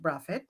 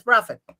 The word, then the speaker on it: Braithwaite: Anyway, so I decided to use a colloquial spin on it because it's pronounced Braffit.